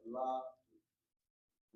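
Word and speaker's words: לַבַּיִת: And now, how do you say to the house? That is la ba it.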